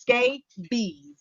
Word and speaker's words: scabies: a skin condition and it's pronounced skate bees all right now it's